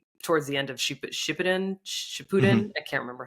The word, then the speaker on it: Shippuden: Shippuden. I can't remember how to pronounce it, but That's how you pronounce it. Shippuden, yeah.